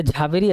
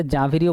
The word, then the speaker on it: ঝাভেরি: এটা ঝাভেরি আছে, এটা জাভেরিও বলতে পারো। জাভেরি ঝাভেরি একই ব্যাপার, কোনো সমস্যা নেই উচ্চারণে, মনে থাকলেই হবে। JHVERI, ঝাভেরি বা জাভেরি।